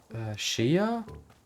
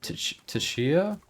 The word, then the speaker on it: Tchia: Shia? Or Tchia? It's spelled Tchia.